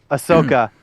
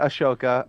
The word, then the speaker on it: Ahsoka: Tit for Tat uh we got Ahsoka oh you said it right yeah look at you uh we got Ashoka um oh I know that was on purpose but it was hilarious uh the Ahsoka series